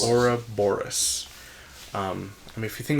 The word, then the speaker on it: Ouroboros: I like the that symbol of the, how do you pronounce it? The Aurora... Ouroboros. Ouroboros.